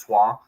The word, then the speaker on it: Troyes: I think it's pronounced Troyes.